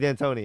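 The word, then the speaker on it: D'Antoni: it's on the tip of my tongue Mike Dan Antonio yeah Mike Danon right yeah it's Mike dantony yeah Mike Dan Antonio he combined his name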